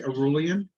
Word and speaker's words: aureolin: So Raphael has proceeded to suggest aureolin. Did I pronounce it correctly, John? Yeah, I just say Aurelian.